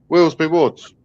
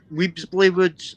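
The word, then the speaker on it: Weelsby Woods: Willesby Woods. Willesby Woods. I keep calling it Weebsbury Woods.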